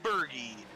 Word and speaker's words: Berge: Number 13, Aaron Berge, an NLR RRO veteran right there. And I know it's weird to say like Berge, but that's how it's pronounced.